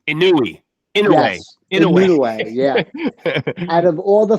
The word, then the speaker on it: Inoue: They said out of all, I always say his name wrong. Inoue.